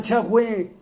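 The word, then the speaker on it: Yahweh: el nombre correctamente y usted debería pronunciarlo correctamente no como el de las traducciones así lo haya conocido con el de las traducciones entre a la verdad se llama yahwe el dios de Abraham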